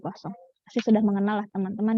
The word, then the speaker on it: Poisson: Bacanya pakai eng ya, distribusi Poisson.